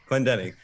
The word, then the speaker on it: Clendening: Is that am I pronouncing that right? Clendening, it was close. Clendening.